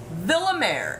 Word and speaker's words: Villamere: And she's reminding me how to say her last name. Villamere. L's pronounced as L's. Okay, Villamere.